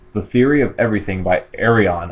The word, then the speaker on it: Ayreon: Alright, the next one I got was The Theory of Everything by Ayreon. I think it's how it's pronounced, or Ayreon. I'm pretty sure it's Ayreon.